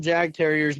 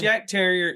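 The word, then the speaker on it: Jagdterrier: And I'm sure I call them Jag Terriers, but how do you honestly pronounce that? I'm sorry. Yuck. Okay, yeah. It's Yak Terrier. It's pronounced Y-A-K, Yak Terrier, and that's for those with the Heide Terrier.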